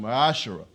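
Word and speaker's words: מעשר: In the Hebrew, it is pronounced ma'ashara.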